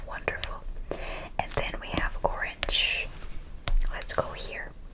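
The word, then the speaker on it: 오렌지: I ignore it. I read only my vowel. It's just helping my vowel create a syllable. O, wonderful. O. Read this as an R. Ren, wonderful. J sound. G.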